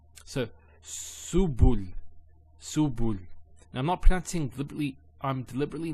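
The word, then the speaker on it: سُبُل: So su, bu, and this is the lam, like the letter L. So subul, subul.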